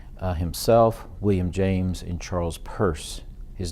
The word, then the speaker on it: Peirce: The key people, as I've already mentioned, are Dewey himself, William James, and Charles Peirce. His name is not pronounced Pierce, it's Peirce, kind of like a woman's purse.